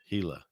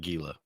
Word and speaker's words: Gila: Yeah, I thought the G was silent. Gila, not Gila.